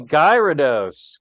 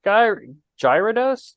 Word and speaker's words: Gyarados: it is a rude no it's actually Gyarados gyroduce Gyarados I dreaded this day for all my life I don't know how to say the word guy rudos Gyarados I said guyard